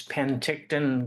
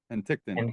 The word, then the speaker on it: Penticton: it's it's Penticton, Greg. Penticton.